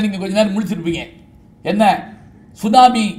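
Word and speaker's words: tsunami: கொஞ்ச நேரம் முழிச்சிருப்பீங்க என்ன சுனாமி அப்படின்னு ஒரு வார்த்தை அது என்ன மொழி தெரியுமா ஜப்பான் மொழி அது என்ன எழுத்துல ஆரம்பிக்கும் தெரியுமா டி அப்படின்னு ஆரம்பிக்கும் அது நம்ம சொல்ற படி பார்த்தா அதை உச்சரிக்க மாட்டோம் சைலென்ட் அப்படிம்போம் சரி சரி இந்த சுனாமிக்கு தமிழ்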